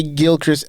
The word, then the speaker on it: Gilchrist: Big up Shay Gilchrist at Gilchrist, how do you pronounce it? Gilchrist? How do you say it, Nats? Gilchrist? Gilchrist? There's no T at the end. Is it there?